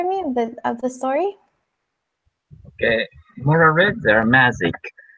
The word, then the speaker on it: mozzarella: This is actually an Italian word. So you kind of say it like pizza. Those two Z's kind of have like a T sound. It's mozzarella.